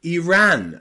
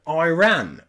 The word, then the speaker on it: Iran: Iraq and Iran okay so here the I and the r are two separate syllables and they are Ira or IRA okay Iraq and Iraq Iran